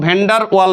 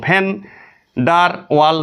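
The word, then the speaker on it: Van der Waals: আমি লিখছি ভিডি রেডিয়াস, তুমি উচ্চারণ শোনো, ভ্যান্ডার ওয়াল ব্যাসার্ধ, ভ্যান্ডার ওয়াল ব্যাসার্ধ।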